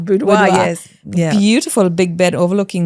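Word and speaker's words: boudoir: Budoa. Budoa.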